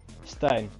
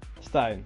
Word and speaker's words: Stein: driver like that like what steain Stein Stein yes yeah okay that's better yay I am Dutch